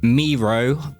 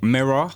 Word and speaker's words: Miroh: Today we are going to be looking at Miroh by Stray Kids, not Miroh. I've been saying it wrong all along. It's kindly corrected in the comments.